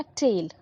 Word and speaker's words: taille: ठीक है, अब ये टैक्सेस थे, पहला थाई, दूसरा टेल। ठीक है, थाई को हम प्रोनाउंस, इसका स्पेलिंग है TITHE, और टेल का है TAILLE।